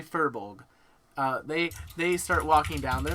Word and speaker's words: furbolg: It's a furborg. That's how I pronounce it. I'm sorry. They are in this like beautiful furbolg. Better. There you go. Yes. Thank you, Will. Thank you for trying. It is a furbolg.